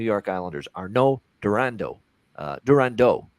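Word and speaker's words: Durandeau: Islanders Arno durando uh durando actually is probably how you'd say it with the French uh pronunciation but Arno durando for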